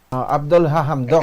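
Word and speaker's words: Abdalla Hamdok: Ano mag-pronounce? Abdullah Hamdok. Abdullah Hamdok.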